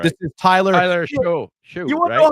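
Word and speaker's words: Shough: They kept calling him Tyler Shuck, Shouck. Tyler Shuck. Then somebody got a hold of the commentators or whatever. They were like, "It's Show," and they kept calling him Shoe.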